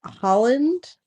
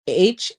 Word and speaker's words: Haaland: So Holland, which is not how you say it, it's Haaland, the Brackeen, which is Brackeen.